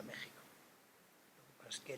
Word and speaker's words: México: En México es un poco diferente de la J española, pero bueno, a efectos contables es la J con la cual se pronuncia México.